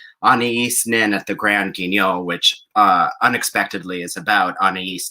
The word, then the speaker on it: Guignol: Anaïs Nin and the Grand Guignol. Did I pronounce that correctly? No, you did wrong. A Guignol. It worked for me, Matt. Guignol. Guignol.